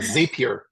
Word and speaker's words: Zapier: the the zap or zape how do you pronounce that H zapier zapier zapier okay so I tested out a